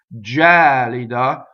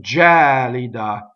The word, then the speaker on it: gelida: so now notice that the stress jelly da is on the second-to-last syllable that's that's not a common stress in Italian and also this vowel isn't open E as we said before the word hat like head so jelly da okay so the accident